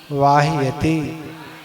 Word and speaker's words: वाह्यते: विपद विपद भाव पदावर्ती पदावर्ती विपद भाव पदावर्ती पद के वाति वाह्यते, वाह्यते। यहाँ स्वराघात नहीं होगा, ठीक है? क्यों? यहाँ वा दीर्घ है इसलिए नहीं होगा।